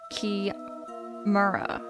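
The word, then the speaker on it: chimera: Um, in in general, if a word has the H pronounced as C, it's probably borrowed from Greek. Um, key ma is no exception.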